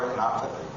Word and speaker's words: retinopathy: We're going to look at something called solar retinopathy.